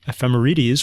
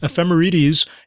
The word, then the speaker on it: ephemerides: Even though it ends in dees or ides, you don't say ides, you don't say aphrodite, you don't say hades, you say aphrodite and hades.